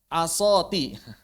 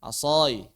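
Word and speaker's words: عصاي: Atau misalnya ketika ada orang yang mengatakan asoti. Asoti. Tongkatku, harusnya asoi.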